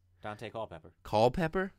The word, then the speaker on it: Culpepper: pepper colpepper it's Dante Culpepper you didn't say it ain't any different than most people say Dante Culpepper saying call pepper cold pepper Cole like Michael Cole that Cole pepper I don't think it's